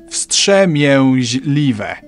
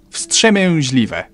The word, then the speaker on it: wstrzemięźliwe: Wstrzemięźliwe. Wstrzemięźliwe.